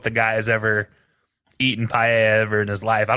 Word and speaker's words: paella: No, he's he's not even gonna say paella. He's going to be pale. Like he's gonna he's gonna pronounce the L's.